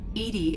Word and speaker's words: EDI: reminding me the airlock why are you named edie edie is the phonetic pronunciation of edi that is an acronym for